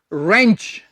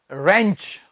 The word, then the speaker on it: wrench: आज हम WR वाले वर्ड्स पढ़ रहे हैं जिनमें हम W को प्रोनाउंस नहीं करेंगे। रेंच, WRENCH, रेंच।